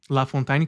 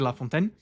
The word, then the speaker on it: La Fontaine: Estou falando tanto o nome La Fontain e francês como a pronúncia portuguesa. Estou trocando as duas. La Fontain e La Fontain.